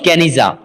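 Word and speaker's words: Geniza: यहाँ पर गेनिजा जो कि प्रोनाउंस्ड गेनिजा, इसके अंदर 1896 में एक बहुत ही बड़ा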